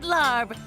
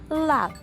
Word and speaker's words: larb: I'll take the maggot larb. Did I say that right? Larb? It's actually pronounced lab.